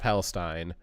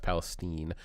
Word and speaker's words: Palestine: Palestine because there is a Palestine it's not Palestine it's pronounced Palestine uh there is a Palestine Ohio which is